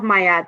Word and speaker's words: Ma'at: So the law of Mayat, there are 11 laws and 42 principles of Mayat. And it's spelled, for your listeners who may want to look it up, it's spelled MA apostrophe AT.